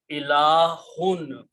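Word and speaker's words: إلهٌ: This pronunciation is ilahun. So if I write down these together, it will be ilahun.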